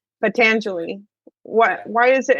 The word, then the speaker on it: Patanjali: I don't know, maybe you can talk about the sutras of Pangelea. How do you say it? Pangea Patanjali, Patanjali, Patanjali.